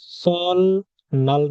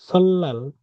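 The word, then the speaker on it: 설날: সল নাল না, সল্লাল, সল নাল না, এটার উচ্চারণ কি হবে? সল্লাল, সল্লাল। কোরিয়ার নতুন বর্ষ, কোরিয়াতে নতুন বছর, সল্লাল, সল্লাল।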